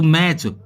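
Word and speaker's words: match: बताया था यानी की च से पहले भी यदि टी हो तो भी साइलेंट रहता है जैसे एम ए टी सी ह तो मैच इसको हम बोलेंगे मैच मेंस होता है मुकाबला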